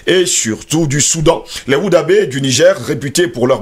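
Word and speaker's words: Wodaabe: Les Woubadé, il faut le préciser, Woudabé, Peul, Woudabé, singulier, Bodado, j'espère que je vais bien prononcer, parce qu'il y a une dame ici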